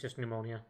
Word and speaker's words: pneumonia: The P is silent, it's just pneumonia.